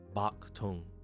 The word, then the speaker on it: Paktong: Because Westerners were restricted to trading in the port of Guangzhou, Canton, they adopted the Cantonese pronunciation, Paktong. The English P sound replaced the softer B sound.